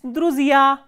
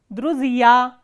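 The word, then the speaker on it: друзья: It is druzia, druzia. So, here stress is on the ending ya.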